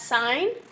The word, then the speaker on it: sine: now on your calculator sine is abbreviated s-i-n but remember that that is not sin okay this is not a bible history class this is math class we're going to pronounce that as sine so the sine ratio